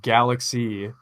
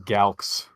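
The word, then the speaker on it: Galxe: it's so obvious, but it's supposed to be pronounced Galaxy, and I've literally been saying Galx my entire career.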